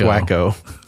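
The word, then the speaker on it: Waco: a part of History it's pronounced wo is that why people look at me weird when I say wakeo yeah that's it it's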